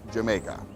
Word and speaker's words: Jamaica: The Dutch pronounced the letter J as a Y, so when the English saw the word spelt with a J, they assumed it was pronounced Jamaica.